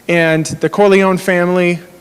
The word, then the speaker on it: Corleone: is is uh Michael Corleone right he's he's the the boss guy right and the Corleone family I hope I'm pronouncing that right does anybody Italian did I do it corleon okay great excellent um the Corleone family